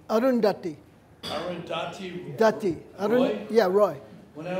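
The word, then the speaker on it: Arundhati: sale could you could you teach me how pronounce like andachi Roy like the name arundati arundati yeah Roy when I was up and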